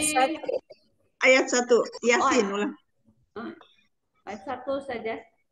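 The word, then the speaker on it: يس: Ya, ya-nya jangan terlalu panjang, ya, sin. Dua harokat saja. Ya, dua harokat atau satu ayunan.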